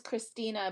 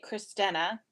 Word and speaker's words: Cristena: it's like I mean mine is Christina but I get christena which I really don't